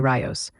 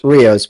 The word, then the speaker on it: Rios: You're Riyos.